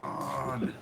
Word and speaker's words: Khan: That's how it's pronounced. Khan.